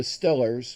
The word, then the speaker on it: Steelers: They call them the Stillers. You know, the way that the way they pronounce it up there.